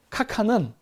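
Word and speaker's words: khagan: 김유신 장군도 북방민족이랑 관계가 있기 때문에, 예, 북방민족이랑 관계가 있기 때문에 가한이라는 이름이 나오는데 이 가한은 그러니까 현지 발음으로 하면은 카칸은 북방민족의 황제의 호칭입니다.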